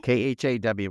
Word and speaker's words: Khaw: Caw. It's Khaw.